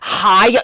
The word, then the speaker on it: Hiya: Actually, it's pronounced Hiya.